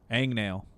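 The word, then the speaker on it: agnail: sitting there whatever that is not where hang nail comes from it actually comes from the same route as angst Ang nail yeah Ang nail and I don't know oh it's not hang it's it's spelled with an H but that's the origin is the same is the same route as as angst because it really it's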